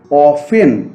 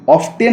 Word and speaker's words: often: ওয়ার্ডটা তোমরা দেখতে পাচ্ছ, এটা কিন্তু আসলে উচ্চারণটা হচ্ছে অফেন, অফটেন না, টি এর উচ্চারণটা এখানে নেই।